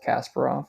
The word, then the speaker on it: Kasparov: champion at the time Gary KAS Kasparov I've also heard him called Casper off so however you want to pronounce it but uh um it